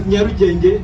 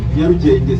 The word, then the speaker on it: Nyarugenge: And then in Nyarugenge, because Nyarugenge is spelled starting with N, N-Y-A, Nyarugenge.